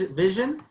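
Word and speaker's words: Vizhen: that's that's and so it's vis vis vision it's kind of like vision right yeah it's region yeah just spelled it's spelled just so everyone understands v-i-z-h-e-n right yes that's right and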